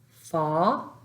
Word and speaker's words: fa: Fa, the A is pronounced as ah.